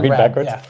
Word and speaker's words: Raab: I always have to say it's Rob like the Saab.